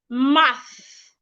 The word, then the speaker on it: math: The first word, math. Your tongue should be in between your teeth, not behind. Math.